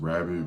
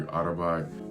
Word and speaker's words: Rabat: It looks like it's pronounced rabbit, but it's actually Arabat.